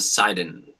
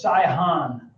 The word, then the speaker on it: Sihon: Og and Sidon. Yeah, that's Sihon. Did you say? Oh, it's spelled S-I-D-O-N. Is it S-I-H-O-N? Yep. Yeah, H. Sihon.